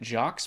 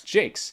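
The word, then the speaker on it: Jacques: pronounce his last name I've pronounced it jocks my whole life but it's Jake apparently um this is one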